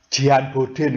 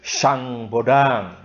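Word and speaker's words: Jean Bodin: Nah ini tokoh ini namanya, ini kalau bacanya gimana kamu? Jian Bodin gitu ya. Enggak, ini bacanya itu Sang Bodang. Nah, itu bahasa Perancis, ini orang Perancis ini.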